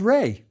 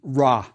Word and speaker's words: Re: I bet you've heard it pronounced Ra. That's fine too. Remember, we aren't sure about the vowels.